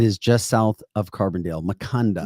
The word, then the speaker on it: Maconda: Maconda. Maconda. Okay. Very good. It rhymes with Wakanda.